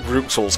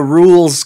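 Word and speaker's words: Rouxls: same i called it ruxel's card to begin with i mean i and i speak french i know french you know the x never makes a sound but even when i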